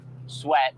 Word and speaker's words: Swett: it's so sweat s-w-e-t-t so um so yes I know it sounds like sweat as in perspiration but it is spelled differently laughs at the current